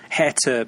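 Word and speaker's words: Hertha: to let you know it's pronounced hair to Berlin and not hurt a billion as I say he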